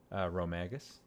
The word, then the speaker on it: Rhomagus: uh Raziel how do you how do you pronounce my name Rome agus yeah yeah that's about right I've heard her